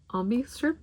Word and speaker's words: obi: So this one's got the, it's pronounced Obi strip.